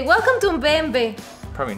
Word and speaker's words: BMW: Now, the correct pronunciation is BMW. BMW. You literally just say the 3 letters in German.